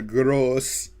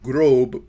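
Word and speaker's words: Große: That's actually how you pronounce that B letter. It's actually supposed to be a double S. So instead of being... So the German word for great is not grob, but rather gross.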